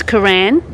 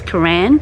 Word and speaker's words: Cooroy: Okay, Cooroy is Koran. Yep. That's the correct way to say it. Yep. If you're a local, it's Koran.